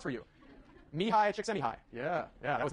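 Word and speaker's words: Mihaly Csikszentmihalyi: Martin Seligman, and then this guy whose name I will now pronounce for you. Mihai Csikszentmihalyi.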